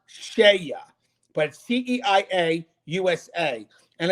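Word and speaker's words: CEIA: the spelling of that it's c-e-i-a but it's pronounced shaya but c-e-i-a usa and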